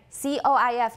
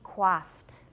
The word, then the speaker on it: coif: She's very nicely coiffed. Nicely coiffed. It should be coiff. If you don't know this word, you might say coif. But I have never ever heard coif except when I said it in this class.